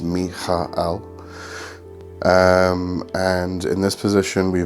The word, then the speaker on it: Michael: Okay, so in the day position is the position of fire and the archangel Michael, and it is pronounced Michael.